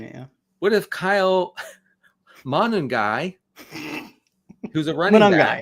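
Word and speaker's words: Monangai: What if Kyle Manung guy who's a running manung guy is I think I think you got the syllables right. Just Manung guy.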